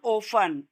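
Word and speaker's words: often: Notice का मतलब ध्यान से देखना that there is ऑफन। ओफन में टी नहीं बोला जाता। इसकी स्पेलिंग आप देख रहे हो ना? ओ एफ टी इ एन लेकिन टी साइलेंट रहता है।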